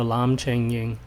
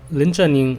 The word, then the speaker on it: 林正英: late HongKong film actor Lam Cheng Ying, or Lin Zhen Ying if we are going with the Mandarin pronunciation, but I’m not sure if proper licensing rights were secured.